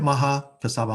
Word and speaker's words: Mahakassapa: And so Mahakassapa is the most senior. Did I pronounce that right, Josh? That sounds right. Okay, all right, Mahakassapa.